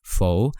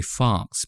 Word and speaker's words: faux: told that it's pronounced faux I used to I used to say Fox but it's not it's it's a French word I guess I'm not sure correct